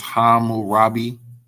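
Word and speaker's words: Hammurabi: So that word is pronounced ham murapi ham right. So hum or the hum would be uh black or dark. Uh the robi the rob is really so it's it's hamu robbi.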